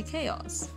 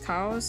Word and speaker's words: Kaos: or some people say chaos and personally I'm fine with all of them uh the preferred pronunciation is Cows as in cows but also I enjoy